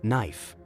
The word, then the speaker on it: knife: we Bend our legs next we have knife this this essential kitchen tool has a silent partner making it all the